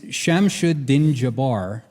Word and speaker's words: Shamsuddin Jabbar: His name is Shamsuddin Jabbar, but it's Sham Sudden Jab Bar. Like, does that have anything to do with COVID?